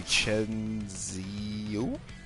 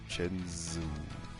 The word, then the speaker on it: Chenzo: Yeah, but it's pronounced Chenzo. Oh, Chenzo. Is it Chenzo? Am I saying Chenzo right? It's Chenzo.